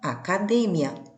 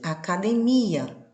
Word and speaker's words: academia: a mesma coisa que academia na língua portuguesa. Observem que as grafias são iguais, observem que os significados são iguais, mas a forma de pronunciar é diferente, porque a sílaba tônica mudou de lugar.